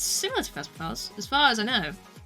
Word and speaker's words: Phasma: I do very much enjoy the Phasma.